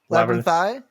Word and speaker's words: Labyrinthine: about the development labyrinth i'm afraid i'm going to say it wrong now is the labyrinthine it's labyrinthine 11 thigh was developed